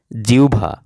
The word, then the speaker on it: জিহ্বা: জিহ্বা শব্দের উচ্চারণ হচ্ছে জিহ্বা।